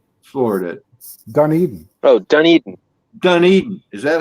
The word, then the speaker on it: Dunedin: It's in Dunedin, Florida. Dunedin. Oh, Dunedin. Dunedin. Is that how it's pronounced?